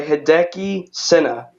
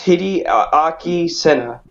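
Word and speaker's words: Hideaki Sena: It's called Parasite by Hideki Senna. If I pronounce that right. It's Hideaki Senna.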